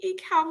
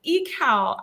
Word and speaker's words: Ekow: believe it's pronounced yes it's called it's echo but i'm very used to it i have i have a lot of friends um in the diaspora and they call me equal so um i would